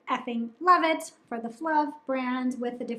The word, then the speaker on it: Flove: this is the brand Flove. With my southern accent, I think it's maybe a little more of an than they intended, but Flove is a menstrual cup brand from Norway.